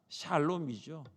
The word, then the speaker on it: 샬롬: 샬롬이죠. 샬롬. 우리 옆에 계신 성도님께 이렇게 인사하겠습니다. 샬롬, 샬롬, 샬롬.